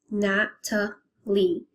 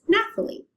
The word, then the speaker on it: Nathaly: In my case, Natalie, I pronounce it as Natalie. And I wrote it this way because in my name, you do not pronounce the H. So this way, it will avoid from others pronouncing it as Nathalie.